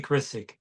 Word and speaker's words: Grisack: Yeah, no, it's like it's weird because it's Grisack, Yeah, but the S is pronounced like a Z, so it's just weird, I see.